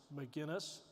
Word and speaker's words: Maginness: make the same mistake the name is pronounced McGuinness it's an Irish name I come from a